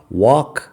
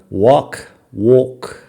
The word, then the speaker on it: walk: El tema es que la L no suena la vocal A, wok.